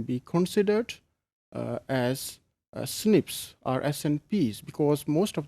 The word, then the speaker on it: SNPs: Single nucleotide polymorphisms or SNPs commonly pronounced as snips.